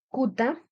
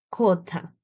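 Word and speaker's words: quta: Por ejemplo, acá tenemos kuta en escritura, que significa lago. Vemos que la Q simple está antes ante una vocal U. Y ahora en pronunciación, la U se viene a convertir en O en pronunciación. Y entonces la pronunciación en aymara sería kota, que es lago.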